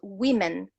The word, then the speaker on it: women: Woman, W-O-M-A-N, in the plural becomes women, W-O-M-E-N. Okay, even the pronunciation changes. We say woman in the singular form, pronounce it like this, woman, 1 woman, a woman, but in the plural we say women, W-O-M-E-N.